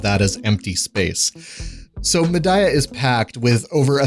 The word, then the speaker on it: Mediah: much hyped medah update now I know that's going to trigger some folks but there's an NPC in game that pronounces it that way so I'm pretty sure I'm right on this one but anyway it adds